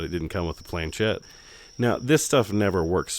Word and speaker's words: planchette: planchettes, or what is that how you pronounce it?